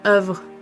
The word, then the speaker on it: eau: was really funny that the word for water is o and it's e a u but it it's it's just o.